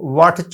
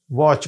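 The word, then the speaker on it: watch: साथ मिलके साथ दिया तो वट च नहीं कहेंगे वच कहेंगे ये भी नहीं कहते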